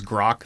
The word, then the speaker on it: Grok: Okay, but it is Grok.